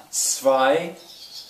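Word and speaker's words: zwei: i think i yeah i told you the w will usually have the sound of a v sort of so that actually would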